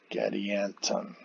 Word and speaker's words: Gadianton: e versus e cat third syllable stressed in both names and both end with the consonant end catalina getty anton the fourth syllable both have the short u sound catalina gaddianton okay i've got a